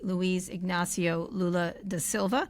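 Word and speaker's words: Luiz Inácio Lula da Silva: It was Brazilian President, let me pronounce this correctly, Luiz Ignacio Lula da Silva.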